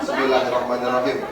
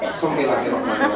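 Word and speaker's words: بسم الله الرحمن الرحيم: membacanya dengan keyakin keyakinan kalau kita baca bismillah Bismillahirrahmanirrahim iya ya asal sebut aja ebutnya ya harusnya apa bism bismillah saking terburu-burunya ya itu maca mepetan semilangahmanirahim huruf Bangnya hilang jas sampai di sini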